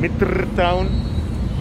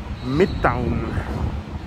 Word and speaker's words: Mitrtown: midtown i was saying mitre town and then people told me that the r is silent so you shouldn't say that so it's the samyan midtown nice christmas tree so